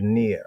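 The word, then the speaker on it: נר: for lamp right so we have near phonetically that's how it goes right there near near so bdb Brown driver is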